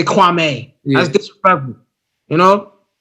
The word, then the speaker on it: Kwame: Like he always says Kwame Brown's name wrong. Yeah, like me being Ghanaian, you say Kwame, you don't say Kwame.